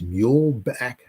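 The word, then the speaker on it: Muehlebach: up in 1923 is mule Back Field I think that's how you pronounce it m-u-e-h-l-a-b-a-c-h field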